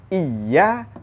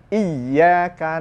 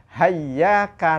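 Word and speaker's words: إياك: Karena itu jangan membaca iya tanpa tasdid. Harus ada tasdid. Iyyaka na'budu, harus ada tasdid.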